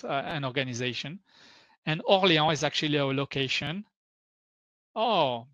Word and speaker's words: Orléans: And here Orléans, so Orléans in English, but in French it's Orléans.